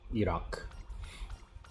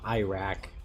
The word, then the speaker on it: Iraq: in Iraq, or Iraq, I guess is how you're supposed to say it. Iraq. That's the correct pronunciation, not Iraq.